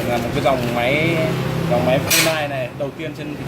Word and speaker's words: Funai: Theo tiếng Anh các bạn đọc là Funai thì đúng hơn.